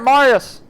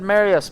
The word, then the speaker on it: Marius: I was saying it right, Marius. I think at first I said Marius, but we're not going to talk about that, alright?